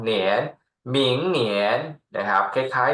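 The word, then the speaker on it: 明年: 2 หมิง เนอ เอียน เนียน เสียง 2 เหนน หมิง เหนียน นะ ครับ คล้าย ๆ หมิง เทียน เลย เนาะ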